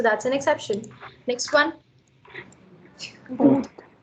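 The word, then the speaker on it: août: Oud. It's pronounced as ut. The t is sounded. पहले का आ नहीं बोल रहे हैं आप और ये ऊ का sound है. So ut. That's the month of August.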